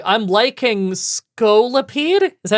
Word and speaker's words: Scolipede: Like I'm liking Skolipede. Is that how you say it? Scolipede.